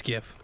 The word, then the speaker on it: GIF: a gift or a jiff is it pronounced jiff it's gift a gift well the creator